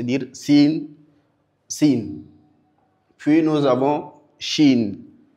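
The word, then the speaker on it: شين: Puis nous avons shin. Chin chin. La lettre chin se distingue par la propagation de l'air à travers tout espace que qui est possible.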